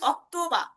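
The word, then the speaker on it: Oktober: এরপর হচ্ছে অক্টোবার যেটা অক্টোবরকে বলা হয় অক্তবা। অক্তবা। ঠিক আছে। অক্তবা ত এর মত।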